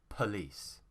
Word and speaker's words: police: how i say it police police police now the stressed syllable is here so it has two syllables okay pa and lis or po and lis okay the stress